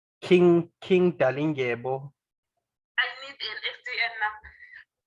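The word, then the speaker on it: Dalindyebo: It's King Dalingebo, so that's DALI. DALI. Yes, Dalinge. So it's sure. This is a Xhosa name. So Ngebo is DY. DYEBO.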